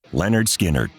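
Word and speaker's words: Lynyrd Skynyrd: It wasn't until 1973, however, when they hit it big with their debut album pronounced Leonard Skinnard that the world truly started to take notice.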